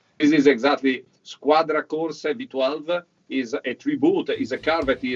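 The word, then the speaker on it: Squadra Corse: those that do not know the proper italian pronunciation this is exactly squadra core 712 is a tribute is a car that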